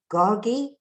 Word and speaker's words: Gargi: Gargi?